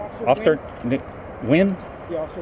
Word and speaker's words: Nguyen: Officer Wynn? Yeah, also win. But it's spelled Nguyen. Yeah. NG is silent.